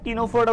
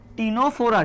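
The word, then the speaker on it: Ctenophora: টি তে কি বলতো এই সি টা উচ্চারণ হয় না টিনোফোরাটা উচ্চারণ হয় কি উচ্চারণ হবে টিনোফোরা ঠিক আছে কি উচ্চারণ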